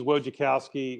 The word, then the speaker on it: Wojciechowski: Yeah, his name's Wojciechowski, or Woji, thank you.